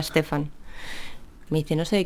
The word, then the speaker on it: Stefan: de Stephen Stefan sweig mi abuelo me regañó el otro día porque me dijo que no era Stephen que se pronunciaba Stefan me dice no sé